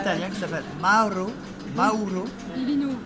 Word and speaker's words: Biglino: Elle te beaucoup parle lu, d'un elle a- Italien qui s'appelle Mauro Bilino. Billino. On prononce- Faut le dire avec l'accent. Ça s'écrit Biglino, mais on prononce Bilino.